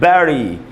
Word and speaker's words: bury: उसके बाद दोस्तों BURY, इसको पढ़ेंगे बैरी।